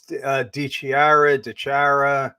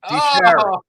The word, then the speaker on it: DiChiara: But yeah, it's DiChiara.